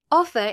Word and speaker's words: offer: Offer is both a noun and a verb with stress on the first syllable.